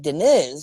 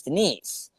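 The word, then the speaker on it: Deniz: be and like and her sister is named um denise but it looks like denis because it's spelled d-e-n-i-z but it's not denis it's denise you know what i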